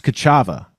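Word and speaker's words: Ka'Chava: it needs and the energy it craves, there's Kachava.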